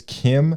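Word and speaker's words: Kh'ymm: it's Kim, but it's spelled. But it has a Y. Yeah, it's like, what is it here? It's like KY apostrophe IIM. I think that's what it was. Just to say Kim.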